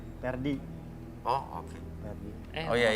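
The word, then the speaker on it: Ferdi: Pakai P pakai F. Pakai F. Iya. Dibacanya Perdi.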